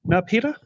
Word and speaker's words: Murupara: Okay, and next up, Murupara.